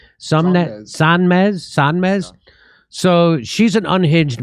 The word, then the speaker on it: Sonmez: Sonmez.